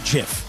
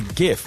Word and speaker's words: GIF: okay it's a gift the creator of said concept said it was gift I don't believe you it's on the Google's don't care it's on the Google's it's not peanut butter it's not a jiff that's what the Creator says bro the crate I